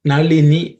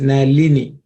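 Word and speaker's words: नलिनी: attending this class speak, this la generally may be pronounced as la, like Nalini, that's the way we'll say. But actually, you can see in Sanskrit, there's no la. It is Nalini.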